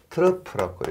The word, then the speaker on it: trough: 그 다음에 트러프형 치마 TROUGH입니다. 트러프라고 읽습니다.